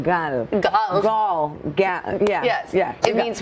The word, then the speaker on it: Gal: Savannah and Samantha is like, it's easier to pronounce. I'm like, Gal. Gal.